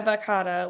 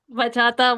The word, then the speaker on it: bachata: Yeah, bakata. We can do bakata. Like that's a new genre. I don't know. Tomato. Tomato. Bata. Bachata. Bachata.